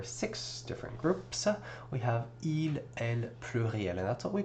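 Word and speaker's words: ils: We have il plural and that's what we call them because again we do not pronounce the s at the end of these words.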